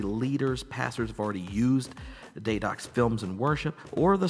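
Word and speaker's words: Deidox: Daydox Films, and it's not spelled like day-dox, but it is spelled D-E-I-D-O-X.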